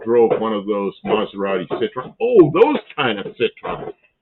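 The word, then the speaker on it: Citroën: Citroen. Citroen. I don't know where the Right that so I got the accent on the right syllable. Second syllable.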